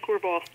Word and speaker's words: Korval: Is it Korval? I have it in my head as certain something, but I don't know if I pronounce it correctly. It's Clan Korval.